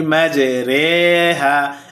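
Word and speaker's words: مَجْرٜىٰهَا: উচ্চারণ হয় ঋ কিন্তু শুধুমাত্র এক জায়গায় উচ্চারণ হবে রে। আর সেটা হল 12 নাম্বার পারায় সূরা হুদেও চতুর্থ রুকুতে যথা বিসমিল্লাহি মাজরেহা।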